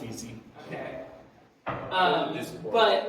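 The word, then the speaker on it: esy: they actually pronounce it it's pronounced easy okay um but like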